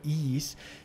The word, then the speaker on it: Ys: Ich muss vielleicht ganz kurz noch dazu sagen, zu meinem Monolog vorher über Is. Das Spiel schreibt man YS quasi, aber es wird wohl Is ausgesprochen, habe ich mir sagen lassen.